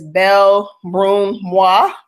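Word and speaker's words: Belle Brun Moi: beautifully Brown me um I'm on Twitter as B Brun Mah so that's the first for beautifully Brown me am on what else am on Tumblr B broom Mo as well how do you how do you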